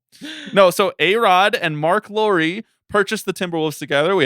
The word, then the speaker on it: Lore: Make sure you spell Lori L, which is spelled like lore, but you know, say Lori.